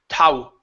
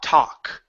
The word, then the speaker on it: talk: talk we don't say tau tau it's not ow it's tah talk ok yeah so don't let those elves fool you ok we don't pronounce those L sounds in in these words came this word here